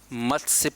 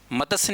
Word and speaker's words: मत्स्य: ही साथ मत्स्य पालन मतस्य नहीं बोलना हैं मत से बोलना है ऑनलाइन ध्यान द मत्स्य ठीक है हम लोग हिंदी में मतस्य मतस्य बोल बोल के गलत उच्चारण कर अब क्या बोलना है मत्स्य तो मत्स्य पालन ओके